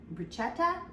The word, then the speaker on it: bruschetta: it to be for bruschetta, I think is how it's pronounced. I butchered it. We say a lot in America, we say bruschetta, and that is not the way to pronounce it, but you can